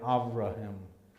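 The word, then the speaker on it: אברהם: the letter b and the a is like a short a so it's more like avraham in the hebrew let's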